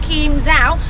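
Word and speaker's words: Kim Giao: Ladies and gentlemen, so I would like to show you that this is a special tree named Kim Zao. It's spelled K-I-M space G-I-A-O.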